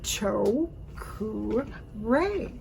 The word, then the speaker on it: Cho Ku Rei: phonetically for you okay cho basically is c-h-o long o cho then ku you also kind of like a dove cruise yeah okay so cho ku and then rey